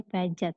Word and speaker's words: Piaget: Tulisannya Piaget, tapi dibacanya Piaget.